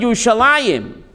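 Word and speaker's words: ירושלים: makes it plural so even though it's written yerushalaim we pronounce it you shall I him because the youth makes it plural because there's a heavenly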